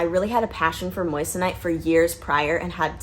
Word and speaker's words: moissanite: more about these different gemstones so what is moissanite say with me moissa night moissanite okay i hear so many people mispronounce it moissanite that is how you say